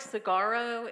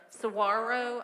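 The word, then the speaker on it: saguaro: me it looks like sagaro and when you how do you pronounce it sarro I don't think there's a hard G in there when you say it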